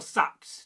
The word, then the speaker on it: seax: The A E sounds like cat, but sometimes pronounced with a slight E, a more open vowel.